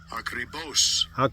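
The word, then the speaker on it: ἀκριβῶς: Akribos. Akribos. That's the pronunciation of transliteration of akribos, which is an adverb.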